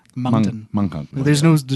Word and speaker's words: Moncton: Well, because it's almost like there's a silent G. It's like Moncton. Munghung. You know, like mung bean. It's like Moncton.